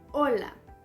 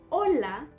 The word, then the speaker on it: hola: spanish estan listos are you ready emperors hola can you guess what that means i'm sure you already have heard it it's very popular hola means hello this word hola is spelled h it's not pronounced can also